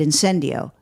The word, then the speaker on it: incendio: and then he said and then he said in sin do and I was like oh that's a good